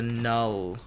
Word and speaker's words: Knull: from to begin with the character Null, which I think is spelt Knull, Safe for a minute.